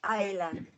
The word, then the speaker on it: island: Island. Because you're going to mention it many times. Island, the S is silent.